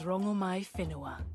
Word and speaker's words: Rongomai Whenua: Rongo Wenhua. What do I call you? My name alone will suffice. My name is Rongomai Whenua. Oh! We've been mispronouncing you the whole time.